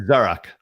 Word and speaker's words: Zarak: So, you know, how I tell people to say it, it's like, you know, the store Zara. Zara, yeah. Zara. Now add a K to that.